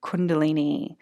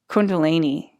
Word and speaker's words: Kundalini: from the tantric texts is the idea of Kundalini. So first of all, I was saying it wrong. I was saying Kundalini.